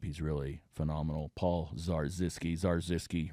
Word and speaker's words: Zarzyski: Paul Zarzyski, Zarzyski rhymes with bar whiskey.